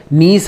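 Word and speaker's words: gneiss: सुना होगा ठीक है इसको इंग्लिश में जो है जी एन I double S ये लिखा जाता है ठीक है जी यहां पे साइलेंट रहता है तो मुख्यता जो है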